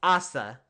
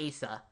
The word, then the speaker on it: Asa: And it's pronounced Assa, not Asa.